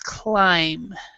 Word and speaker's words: climb: you were said climbing the B is always silent but that that first one it's not cllean it's climb so it's it's one of those words that doesn't follow the pronunciation rules as far as spelling so climbing okay right